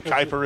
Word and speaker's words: Kuiper: So Kuiper is how you pronounce it?